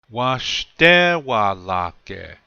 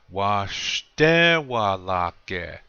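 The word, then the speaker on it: waštéwalake: Washtewalake. Accent is on the second syllable, the shte part. Washtewalake.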